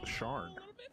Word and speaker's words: Cyan: So, Cyan, it says in there about that it is pronounced Sharn. Sharn? Sharn? S-H-A-R-N. Let's go! Say it like Sharn.